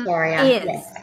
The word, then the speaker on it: acharya: Yeah, acharya.